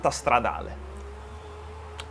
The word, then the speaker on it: Stradale: No, but SF actually, if I want to pronounce it in Italian way, I should say SF90 Stradale.